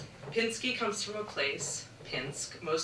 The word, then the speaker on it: Pinsky: Pinsk had a river, a sawmill, but where I grew up, Pinsky with a short I was the local name.